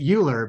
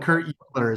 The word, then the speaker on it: Uhlir: I pronounce it Uhlir, but I've had far too many people work for me throughout Europe that make fun of me for how I say my last name because it's a Czech name, and they joke that I can't actually pronounce my own name properly. But Kurt Uhlir is how I would say it.